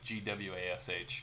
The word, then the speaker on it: gouache: gouache, which is usually just pronounced like Gwash, gouache.